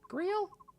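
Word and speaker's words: Greil: Grail? Greel? I think it's pronounced Greel, actually.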